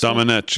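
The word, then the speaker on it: Domenech: Is that the way you pronounce it? Dominic, yeah.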